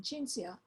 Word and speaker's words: Cinzia: With C can represent two sounds, ch, as in Cinzia, or k, like a K. It all depends if it is followed by an I or an E.